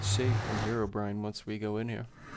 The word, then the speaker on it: Herobrine: Herobrine.